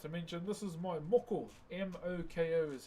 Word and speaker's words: moko: So as I was about to mention, this is my moko. M-O-K-O is how you spell it.